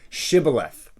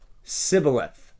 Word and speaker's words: shibboleth: says say the word shibboleth and they would say the word sybileth okay shibboleth civilized okay what's the difference well because shibala they can't pronounce the sh they just say sybileth okay so they said